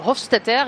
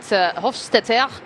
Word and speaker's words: Hofstetter: So you can imagine that Hofstetter, as you should pronounce it apparently, is a man who